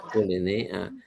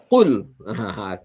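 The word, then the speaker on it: قُل: Kul ini masyarakat umum juga sudah tahu ini ya. Iya. Ee sering dikatakan jangan bacanya kul. Kalau qul nanti artinya makan. Harus qul baru katakan ya.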